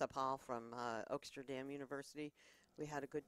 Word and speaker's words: Oaksterdam: So I may be able to do some teaching down at the Amsterdam, how do you pronounce it? Oaksterdam. Oaksterdam Yeah, you better learn how to say University.